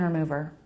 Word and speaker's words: remover: I like the word remover because it's a stressed syllable, move, with a really quick R sound before and after. The quickest R sound you can make.